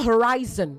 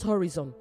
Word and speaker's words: horizon: It is also horizon, not horizon. Horizon, all right?